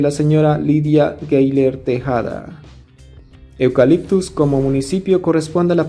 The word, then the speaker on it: Eucaliptus: proviene su nombre pero que no como eucaliptus y no como eucaliptos porque en el idioma aymara es muy usual pronunciar la letra o que o eucaliptus era